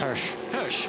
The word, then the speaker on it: Hirsch: And Gary, how is that pronounced? Hirsch.